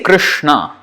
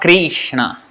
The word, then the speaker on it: Krishna: But anyway, you can see how to pronounce it. And when we say Krishna, Krishna.